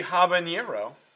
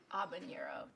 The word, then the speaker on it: habanero: salsa picante day chili habanero n spanish but then you pronounce the h it'd be habanero they don't pronounce that h well spanish more of